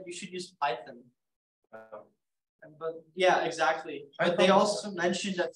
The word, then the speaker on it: Python: Yeah, why you just write Python does not rhyme with siphon.